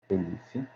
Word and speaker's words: elif: O if, o elif, opa, é elif, o else e o não, né? assim que é assim como se escreve.